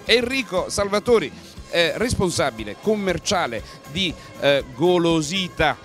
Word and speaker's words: Golosita: Enrico Salvatori, responsabile commerciale di Golosita, senza accento sulla A, io poco fa lo chiamavo Golosità, Golosità, perché è buono, mi veniva davvero naturale andarlo a dire.